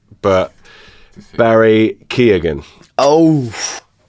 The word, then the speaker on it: Keoghan: So he actually, the actual pronunciation as an Irish person would be Keown. Keown. Keown, yeah. But he, like the GH is silent. Keown.